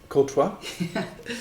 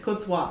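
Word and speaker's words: Courtois: uh no no no your sponsor is I pronounce it kotwa kotwa K yeah that's your sponsor but that's not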